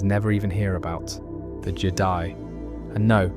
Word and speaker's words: Je'daii: even hear about, the Jedi. And no, that's not me mispronouncing Jedi. It's spelled with an apostrophe in the middle, and it marks a very different philosophy.